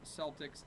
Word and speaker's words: Celtic: sound the Irish say Celtic and Kelts the Americans say Celtics and selts both are technically correct it just depends on whether you want to pronounce it the American way or the Irish way so like Glenn said